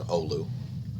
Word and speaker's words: Oulu: to ullah odrop for teaching me how to pronounce the word olu i greatly appreciate it oleus neutron monitors flat